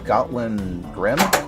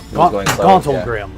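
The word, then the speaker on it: Gauntlgrym: for the first time when you arrive at Gotlin Grim? Or Gotwell Grim? Grindlegrim. Grindlegrim. Gauntlegrim.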